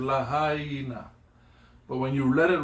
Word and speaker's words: Lahaina: It's lahaina. But when you let it roll, it's lahaina. But you pronunciate the I in lahaina, E, yeah?